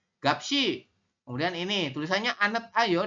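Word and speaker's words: 값이: Jadi siot ini tetap dibaca, pindah ke sini. Jadi kita bacanya gapsi.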